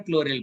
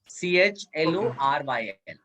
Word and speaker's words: chloryl: सर ClO3 को कैसे pronounce करते हैं? पर क्लोरिल बेटा। सर वो क्लोरिल है ना ClO2? ClO2 क्लोरिल है, क्लोरिल है, CHLORYL.